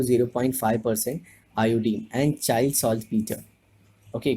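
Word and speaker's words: saltpetre: Okay, कुछ teacher इसे या स्टूडेंट भी कुछ चाइल्ड सॉल्ट पेत्रे प्रोड्यूस ऐसे प्रोनाउंस करते हैं, which is wrong. I know Peter is PETER, बट पेत्रे कहना थोड़ा गलत सा लगता है।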